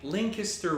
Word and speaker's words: Lancaster: lancaster kind of guy with a lincuster resident thank you thank you for saying it correctly yeah well it's like